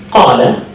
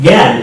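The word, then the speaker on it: قال: So the letter qaf in the word qala, which means he said, is pronounced qala in Yemen, gal in the eastern part of the Arabian world, and al in the northern part of the Arabian world.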